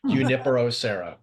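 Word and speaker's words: Junípero: For your information, Junipero the J is completely silent, Okay. so it's Junipero.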